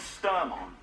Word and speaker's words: Sturmhond: The name's Sturmhond.